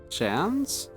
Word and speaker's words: Shans: Shans? No, that's a football nickname. I don't have a chance. The pronunciation of Shans. Sean's is the same as Shan's. Like chance, but with a sh at the start.